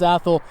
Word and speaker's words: Athol: can't if you can't remember how to pronounce athle picture Mike Tyson saying the word and that will get it right every time he's very lucky to